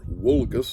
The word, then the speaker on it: vulgus: the common people and the Latin word for common people is vulgus or wulus in the old pronunciation that version becomes known